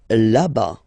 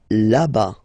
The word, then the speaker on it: là-bas: Là-bas. Là-bas. Remember, final S not pronounced.